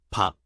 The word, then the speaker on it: 밥: 밥, Initial B, vowel A, and a final at the bottom.